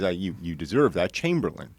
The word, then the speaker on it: Chamberlain: Have I Got News for You writer.